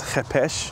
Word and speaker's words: khopesh: the klingon spirit so the kopesh in certain circles pronounced as hepesh it's very interesting we